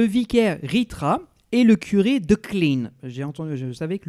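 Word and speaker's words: Klijn: Ritra et le curé de Klein. J'ai entendu, je savais que le J ne se prononce pas, donc je crois que ça se dit de Klein. K L I J N.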